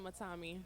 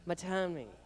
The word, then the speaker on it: Matanme: Okay, now back to our guest, or to introduce our guest, Lillian Matanme. Did I say that correctly, Lillian? Lillian Matanme. Matanme. So the N is silent.